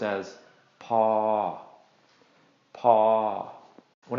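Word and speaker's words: พอ: And when we put these two together, low plus long equals long midtone. So this is going to be pronounced as paw, paw.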